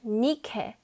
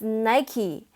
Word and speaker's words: Nike: and our last word nikkei the word for victory how amazing is that when it's transliterated it is spelled nike but don't pronounce it as nike because nikkei is actually the